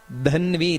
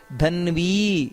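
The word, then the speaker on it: ಧನ್ವೀ: ಶ್ಲೋಕವನ್ನ ಅಂದ್ರೆ ಈಶ್ವರಹ ವಿಕ್ರಮಿ ಧನ್ವಿ ಧ ಅನ್ನೋದು ಮಹಾಪ್ರಾಣ ಇದೆ ಹಾಗೆಯೇ ಧನ್ವಿ ಅಲ್ಲಿ ದೀರ್ಘ ಇದೆ ಉಚ್ಚಾರಣೆಯನ್ನ ಮಾಡಬೇಕಾದರೆ ಹಾಗೆ ಮೇಧಾವಿ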